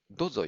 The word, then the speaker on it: どうぞ: いった長与とだんだん皆さん短い発音になっていくので書くときにそれにつられてどうぞよろしくとか 1000 個とかなど